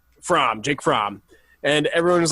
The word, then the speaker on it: Fromm: I don't know how to pronounce it. It's Fromm.